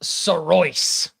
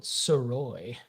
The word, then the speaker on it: Sorois: Okay, Jeremy, last name is pronounced Sorois. Love it. I called it Soroy. But you do pronounce the S.